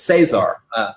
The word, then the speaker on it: Cesar: Yeah, it looks like it's Caesar, but it's Cesar.